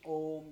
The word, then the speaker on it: Om: So when you say Om, just focus on the long drawn A and try to draw it as long as possible. In the second, we will try to meditate on the U part, the second syllable within it, second sound within it. And then last, we'll try to meditate on the Ma.